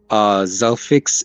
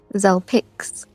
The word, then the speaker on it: Zelpix: No, with it like a P. Zelpix.